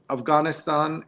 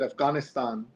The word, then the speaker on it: Afghanistan: The reporter Cecilia Sala travels to Iran, Ukraine, Afghanistan, and follows her generation into the fray. Neil, I just did it there. I said Afghanistan instead of Afghanistan, which most people say, or Pakistan instead of Pakistan.